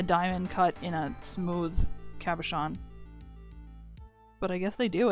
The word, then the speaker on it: cabochon: Though I don't think I've ever seen a diamond cut in a cabochon like that.